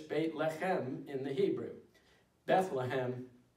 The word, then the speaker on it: Bethlehem: Bethlehem is how the city name is actually pronounced in the English.